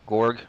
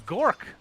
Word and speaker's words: Gork: They have our Viper player, Gorg. I don't know how to say his name. Oh, it's Gork. Okay, I didn't even realize that.